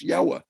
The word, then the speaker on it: Yahweh: in the written Bible, which is roughly pronounced Yahweh, which the distortion is Jehovah.